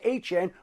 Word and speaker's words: Etienne: who corrected everybody and said that the proper pronunciation of his last name is Etienne.